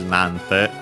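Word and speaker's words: なんて: Just like in this case, nante, the accent is still on the na.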